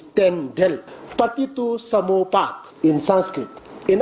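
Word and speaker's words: རྟེན་འབྲེལ: Local language pronunciation, we used to say temre, but actually it's tendel. Patitu samopat in Sanskrit. In our language, we say tendel.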